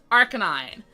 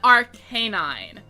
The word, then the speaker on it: Arcanine: ground moves um so Arcanine is indeed pronounced Arcanine rather than Arcanine um which might be what you would expect um given the name having K9 in it um right these are